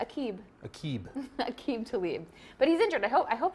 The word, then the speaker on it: Aqib Talib: That's right, and 100% on pronunciation there. You nailed both of those. Aqib Talib.